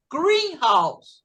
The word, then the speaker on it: greenhouse: Então, quando você tem uma palavra que é composta, mas que ela está juntinha, você vai pronunciar a primeira sílaba. Green tem uma sílaba só, então vai ser greenhouse.